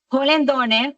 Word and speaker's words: Hollendoner: sociales, todas ellas, Holendoner. Holendoner se escribe con Hollendoner. N-E-R. Es un apellido largo, pero es facilito porque solamente hay que colocarle la H, la doble L y es Polendoner, y ahí estoy pues